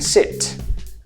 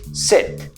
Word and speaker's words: sit: For example for me it would be the words: SEAT and SIT. So I would be in my car saying... SIT - SEAT. I SIT on my SEAT You see?